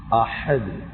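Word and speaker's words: أحد: ஓதுறாங்க குல்ஹுவல்லாஹு அஹத் ஹ ஒழுங்கா உச்சரிங்க ஹம்ஸக்கு ஹக்கு ரெண்டுக்கும் உச்சரிப்பு வித்தியாசம் ஹம்ஸ இது ஹா அஹது அஹத் உச்சரிப்பு எல்லாம் சரியா உச்சரிக்கும்.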